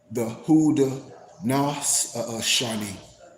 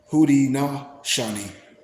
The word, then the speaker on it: Haudenosaunee: refer to themselves as, and I might be pronouncing it wrong, the Haudenosaunee, Haudenosaunee, Haudenosaunee. I'm saying it phonetically. It's spelled Haudenosaunee. And so when we break it down in parentheses or in, phrases, the HOO-DEE-NOH-SHAW-NEE.